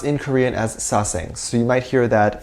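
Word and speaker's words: 사생: They're pronounced in Korean as saesang, so you might hear that phrase being thrown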